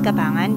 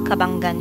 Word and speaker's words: Cabanggan: lugar ng cabanggan Zambales I thought you pronounce it as kabangan but according to the locals cabanggan siya So tiyak na mag-e-enjoy